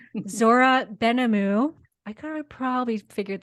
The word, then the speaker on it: Benhamou: you to my newfound friend Zora oh Zora Bena oh my goodness how do you say your last name Zora benamu I kind of probably figured that out but